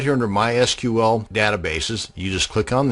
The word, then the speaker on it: MySQL: And yes, it's pronounced MySQL, not MySQL.